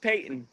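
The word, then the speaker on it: Paton: All that matters, I think, really is what direction Peyton and Patton want to go. Are they both Peyton? Pronounced Peyton? Yeah, they're both Peyton.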